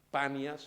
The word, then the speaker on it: Panias: Se llama Banias, el nombre real es Panias, con P, pero los árabes no pueden pronunciar la P.